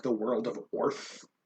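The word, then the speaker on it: Oerth: like the world of Orth o e r t. It sounds like earth but it's it's like I think I think it's pronounced orth.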